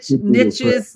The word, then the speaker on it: niches: call it niches, but I understand Niches, I call it niches. niches, It rhymes to right, riches.